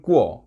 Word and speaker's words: 过: 꾸어 발음은 꾸어, 고기 꾸어, 꾸어와 같습니다.